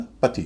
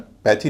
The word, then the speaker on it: pathy: और PATHY का उच्चारण पैथी नहीं होता, पथी होता है।